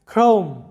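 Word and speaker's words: chrome: পরে আর কনসোনান্টটি রয়েছে, যখন দেখবে সি এইচ এর পরে আর থাকবে তখন সি এইচ এর উচ্চারণটা হবে ক এর মতো।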